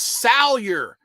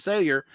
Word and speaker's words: Salyer: Tim, it's Salyer. You know how to pronounce it. I know. I apologize. As soon as I said Sayer, I said, okay, Salyer.